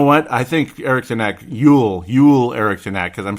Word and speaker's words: Joel: I knew it, and I said Joel anyway, because you just see Joel. No, it's Yule Eriksson Ek. It's spelled Joel, and it's the same name, but let's say it the way they say it, I suppose.